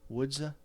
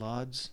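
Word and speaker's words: Łódź: around in this area wooda I I think that's how I heard that pronounced by somebody from Poland wooda wooda not lods as I used to think it was pronounced see stin now that's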